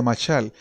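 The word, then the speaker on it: mashal: El término parábola es un término griego que es equivalente a un término hebreo que se pronuncia machal. Y machal quiere decir básicamente como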